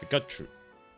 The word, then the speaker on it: Pikachu: Pikachu. That is the Japanese pronunciation.